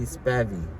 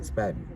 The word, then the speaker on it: Spavvy: It's just simply spavvy. Like that's how you say it, spavvy.